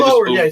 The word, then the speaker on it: Oher: Michael Oher, or however you pronounce Michael it.